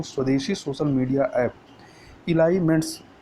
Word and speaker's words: Elyments: पहली social media super app, जिसका नाम है इलाइमेंट्स। तो इलाइमेंट्स की स्पेलिंग क्या है, पहले स्पेलिंग देख लीजिए।